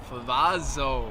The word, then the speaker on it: Favazzo: not the two z's favazzo ah want to try that pizza is not how you pronounce it benny you know what i'm just not going to need some help it's favazzo i'm so sorry i've